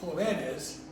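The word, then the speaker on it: jóvenes: Because otherwise, it would be jovenes, because rule number 1 says next to last syllable. But you would say joven, jovenes, it's joven, jovenes, joven, jovenes. So a rule changes to keep the stress in the same place.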